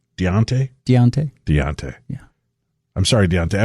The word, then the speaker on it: Deante: Sincerely, is it Dante? D-E-A-N-T-E? Deante? Spell that again. D-E. It's like Dean and T-E. Dean T? Deante? Deontay.